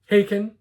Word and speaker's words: Haken: Their name is Haken, spelled Haken, pronounced like bacon but with an H.